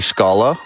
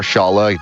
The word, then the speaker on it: Schala: out about the lovely schala or Shala depending on pronunciation I know a lot of people get heated over either or so I'm probably going